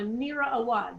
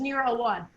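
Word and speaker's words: Mira Awad: palestinian singer um uh neera awad is that their right name i think it's near a wad nera is blonde blue-eyed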